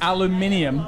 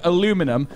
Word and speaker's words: aluminium: They still said aluminium the correct way. And all the green states had begun to slip into what we now refer to as American pronunciation, including aluminum.